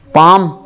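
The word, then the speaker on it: palm: अंगूठा अंगू ब और पाम पाम या हथेली प एलम एल साइलेंट रहेगा पाम पाम यानी हथेली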